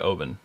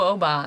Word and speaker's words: Oban: pretty important that you don't see Oban yes yeah but no Obama that's how we started and it was actually taught Cooper I think it was Todd Cooper it was like open it's open it's open so thank